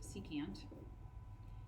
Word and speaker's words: secant: okay on that same note SEC which is pronounced secant is reciprocal with the cosine value so if